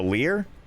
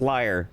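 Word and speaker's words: lyre: liar is it the Lear how do you pronounce that hold on how to pronounce Lear layer I was wrong both ways liar nope it's liar damn it I just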